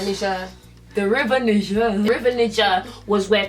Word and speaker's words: Niger: So basically in Africa, the river Niger, is that how you say it? Yeah, Niger.